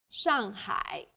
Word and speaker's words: Shanghai: a word in pinion the pronunciation for the famous city Shanghai is Shanghai the first syllable here is made of an initial and a final and a fourth falling tone the second syllable is made of an initial and a final I and a third falling then Rising tone hi Shanghai well done let's wrap up